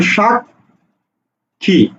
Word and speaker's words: সাক্ষী: তাহলে উচ্চারণ হবে কি উচ্চারণ হবে ক খ যেমন তুমি বলছো কি তুমি বলছো শাক খি দেখো এই খ টাকে